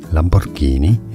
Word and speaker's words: Lamborghini: Lamborghini is how it's said in Italian.